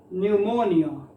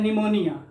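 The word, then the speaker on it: pneumonia: न्यूमोनिया, न्यूमोनिया, न्यूमोनिया, है ना। तो हम लोग पढ़ते हैं निमोनिया, निमोनिया नहीं नहीं, न्यू, न्यू मो नी अ, न्यूमोनिया।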